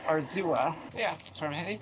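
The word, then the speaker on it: Arzúa: Okay, I think I was pronouncing it wrong before. It's Arzua.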